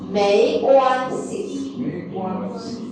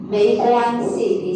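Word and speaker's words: 没关系: next Molly try this MEI how do you pronounce EI 对美关系 yes UAN we will read as a 弯 plus the G is a 弯 and C like 没关系 so this one without any tone okay 没关系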